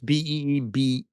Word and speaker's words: Beebe: In Responsible Statecraft, Anatol Levin and George Beebe, is that how you pronounce his name? Beebe? I'm not sure. It's Beebe.